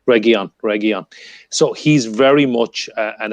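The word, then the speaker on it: Reguilón: at the moment, Reguilon, I keep messing up his Region, yeah. pronunciation, but Reguilon.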